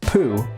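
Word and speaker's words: P'u: is the uncarved block it's pronounced puh in Chinese and is perfectly embodied by our friend we need the puh the idea is that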